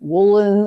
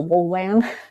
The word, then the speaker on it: Wollan: And people try to pronounce it like Woolen and it's it's without the ski. So Woolan and the name of